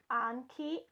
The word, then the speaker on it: Anki: because today I get to play with the ankey overdrive starter kit and yes it is pronounced an key I had to look it